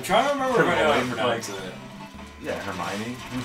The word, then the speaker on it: Hermione: I was very young I thought it was hermo or something I didn't know how to pronounce until the movies I was like what I'm trying to remember it yeah Hermione it's such a she's